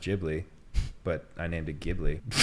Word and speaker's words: Ghibli: Well, yeah, I call my cat Ghibli, even though it's named after Studio Ghibli, which is pronounced Ghibli.